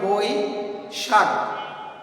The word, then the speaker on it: বৈশাখ: তারপরে দেখো আছে বৈশাখ, বই, তো এটা অক্ষর অনুযায়ী যদি আমরা ভাগ করি তাহলে এটার উচ্চারণ হবে বই শাক, বই শাক, বই, বই শাক।